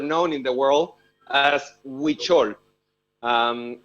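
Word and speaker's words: Huichol: but a word known in the world as witchol um it's spelled o h-u-i-c-h-o-l and the the tradition of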